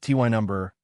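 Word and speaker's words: Tyneham: Tinum pronounced ty number seems frozen in time specifically 1943.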